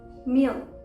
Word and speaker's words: mere: जैसे MERE, मियर, मियर, okay. मी नहीं बोलेंगे, मियर, ईयर।